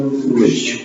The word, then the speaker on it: language: Because it's an international language. Language. Language. Language. Deixa eu pronunciar de novo.